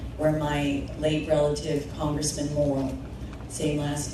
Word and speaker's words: Morrill: And my last name is pronounced Morrill as in good moral principles.